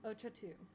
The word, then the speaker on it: Ochatu: I even wrote down a pronunciation for this because I was like, I need to remember. It is the Ochatu, the Ochatu clan.